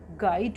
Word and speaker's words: guide: GUIDE, इसको हम गाइड पढ़ेंगे क्योंकि यू लेटर के बाद हमारा क्या है? आई है और आई क्या है? वॉल है। तो यू लेटर हमारा इसमें साइलेंट होगा, तो इसको हम पढ़ेंगे गाइड।